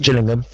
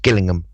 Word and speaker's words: Gillingham: way one is pronounced Gillingham and the other one is pronounced Gillingham but they're spelled exactly the same way now we could we